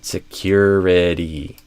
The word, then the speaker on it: security: Security stress on the cure. And notice also there's a kind of a hidden Y here. Secure cure, which I think you did, but for anyone else watching, make sure you bring your attention to that so you don't miss that kind of hidden Y sound.